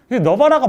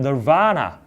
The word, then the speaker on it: Nirvana: 그러니까 우리는 너바나 이렇게 읽잖아요. 근데 영어의 억양은 널바나. 두 번째 강세가 있는 겁니다.